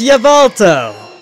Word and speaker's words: Yveltal: Yep, it's Yveltal. That's how you pronounce it.